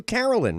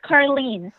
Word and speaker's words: Carlene: It's Carlin. I called you Carolyn, right? Well, you're getting closer. It's Carlene. Carlene.